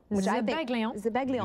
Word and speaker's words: zabaglione: I was saying Zabaglione, because that's the way it looks like when you spell it out. But it's Zabaglione, which I think... Zabaglione. Just leave the I off.